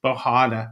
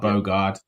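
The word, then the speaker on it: Bogarde: Yeah, it's Rich is just trying to do the Dutch pronunciation of Bogard. There we go. Basically, yes. So Bahada. We were told it was this on the chat. Lots of the chat told us it was not Bogard.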